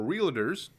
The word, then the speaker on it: Realtors: on an event for realtors Realtors apparently it's two syllables Realtors and I was there